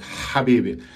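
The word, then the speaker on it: حبيبي: you drink, and the moment you exhale, you know, like the gassy sound, and then you say the word, like, Habibi. Another example, you can check the video where I was teaching my friend how to say it. You put your palm like this, you know, in front of you, and you exhale. You just exhale.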